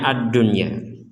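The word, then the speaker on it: الدنيا: sukun bertemu ya addunya Nah ini kita membacanya add-unya nun sukun ketemu ya ini kita bacanya addunya sama seperti yang sebelumnya kemarin Ini addunya ini juga di sama kita baca addunya Kenapa tidak dimasukkan nun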